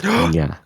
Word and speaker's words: niña: there is a soft consonant there. It's like nya. So there is no stop. Yeah, it's like There is no stop. There is no break. It's just nya. so it's niña.